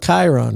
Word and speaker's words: Chiron: with Kiron wrong no as the GM you can decide to pronounce the name however you want could be siren siron Chiron could be any of those kir we're going with Chiron right Chiron I like